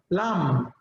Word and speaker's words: lamb: In the words comb and lamb, the B is silent, comb, lamb.